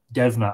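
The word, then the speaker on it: Deimne: trail she called him dennar devna as it might have been pronounced in the old irish martin donnie says hello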